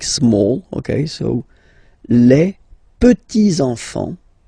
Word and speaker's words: petits enfants: Okay, so les petits enfants. Make this liaison here. Petits enfants.